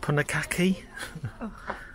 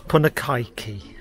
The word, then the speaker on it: Punakaiki: Rush flavor it's true I've been pronouncing it Punic aqui it's punakaiki pancake pancake this is